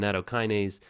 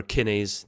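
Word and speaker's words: nattokinase: Tons of research on nattokynise and or kinise depending on how you want to pronounce it.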